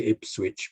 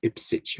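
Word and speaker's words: Ipswich: i think it's it don't say if switch but it's ipsich or something you know and then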